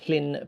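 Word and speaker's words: Llŷn: Oh, that is pronounced the Flynn Peninsula. Okay. Yeah. Two L's pronounced two L's is pronounced like like you're trying to get like a flem like a the back of clear the back of your throat.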